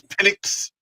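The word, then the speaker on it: Penix: I mean, how do you even pronounce it again? It's pinnix.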